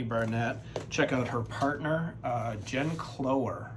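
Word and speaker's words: Jen Cloher: Check out her partner, Jen Clower, I believe is how you pronounce it.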